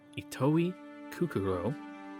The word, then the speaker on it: Itoi Kukuro: itself too much but the syllables each one is said with the same emphasis itoi kukuro I did it again